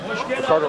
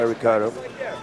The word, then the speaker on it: Ricardo: inside leg there by Ricardo. Sometimes you're going to hear Boss Rutan say Ricardo, sometimes I will say Ricardo. In Brazil, they pronounce the words that begin with an R with an H sound.